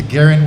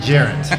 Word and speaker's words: Geraint: At least look out for his boy Geraint. Which, by the way, Johan, since you've been kind of correcting my pronunciations, it's Geraint with a G, not with a J. It's not Geraint.